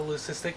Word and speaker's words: leucistic: of call it a leucistic, but I call it Luke. It's leucistic. I don't name my snakes, but it's Luke. Leucistic is the historically proper pronunciation. Leucistic, right, because, the hard C, but...